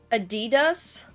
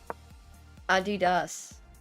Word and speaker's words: Adidas: Well, Adidas just sounds like a very German version of it. Like I understand, but if you're not German, surely you can say Adidas. Surely. Like, there's no way people are gonna get mad about that. Like I understand conceptually how German sounds, but yeah, it's a